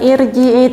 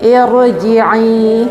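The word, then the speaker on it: ارجعي: Jadi kita bacanya bukan irji'i tapi irji'i. Tebal i.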